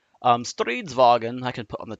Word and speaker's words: Stridsvagn: That is the abbreviation for pretty much the Swedish word for tank, which is Stridsvagn. Stridsvagn, I can put on the text on here, is spelled as such.